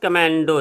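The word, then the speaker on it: commando: चलिए अगला है हमारा कमांडो। इसका प्रोनाउंसिएशन होगा कमेंडो, इसलिए मैंने लिखा है, बाकी आप सब जानते होंगे हिंदी भी इसकी कमांडो है।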